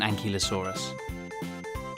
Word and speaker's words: ankylosaurus: velociraptor bye velociraptor how do you say that again an key low saw russ how big was an ankylosaurus it was as long